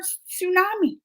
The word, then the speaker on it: tsunami: I mean, that is a hard one because they got that silent T there, which I forgot. I forgot they had the silent T.